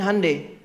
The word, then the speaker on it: Hyundai: Makanya Jepang bikin Honda, Korea bikin Hyundai. Betul, Hyundai itu pengucapannya, Hyundai tulisannya.